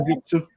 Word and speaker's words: Senjutsu: My number 10, I will probably say the new one, Senjutsu, or however the fuck it's pronounced. Yeah, it's Which called one? Senjutsu.